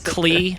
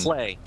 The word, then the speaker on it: Klei: 2D stealth game from is the company name pronounced Klee? What is the proper pronunciation? Clay. Clay. Just like modeling.